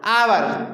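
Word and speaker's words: hour: क्या बोलोगे वहां पर क्योंकि हमारा जो एक है वह राघवा है एक हमारे साइलेंट रहता है तो इसके बाद हम क्या बोलेंगे इसको आवर तो साहब क्या हुआ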